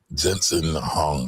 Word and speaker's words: Jensen Huang: Now, before we get going, that guy that she is talking about is the CEO of NVIDIA, Jensen Huang. I might be saying his name wrong.